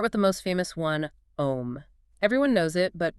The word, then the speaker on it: Om: Let's start with the most famous one, Om. Everyone knows it, but very few pronounce it correctly or understand the actual physics behind it. Sukhdev breaks it down as AUM.